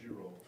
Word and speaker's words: Durov: So on this day, Pavel, how do you pronounce his surname again? Pavel Durov.